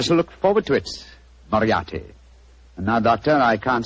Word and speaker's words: Moriarty: I'm afraid I'll have to begin calling it the way it looks. M-O-R-I-A-R-T-Y. Moriarty. Moriarty. I shall remember that name.